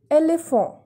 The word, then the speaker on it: éléphant: École, which means school, and the next example is éléphant.